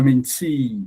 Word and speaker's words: mentee: Menty. All right. Is my mentee. You see the T E E is longer. So you have to stress the e E like we saw in the case of 14.